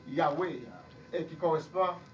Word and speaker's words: Yahweh: 4 lettres, c'était Y, H, W, H. Qui prononce Yahweh et qui correspond à Don.